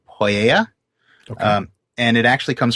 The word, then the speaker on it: mythopoeia: The second part, though, which we pronounce pia, actually in Greek would have been pronounced something more like poieia.